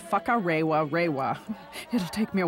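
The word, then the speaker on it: Whakarewarewa: I'm not very good at the pronunciation. You say it. All right. Whakarewa.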